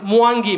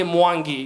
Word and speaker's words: Mwangi: For example, Mwangi. My father can't say Mwangi. You know, the Mwa and the Ngi. You know what I'm saying, yeah? You can't say Mwangi, yeah?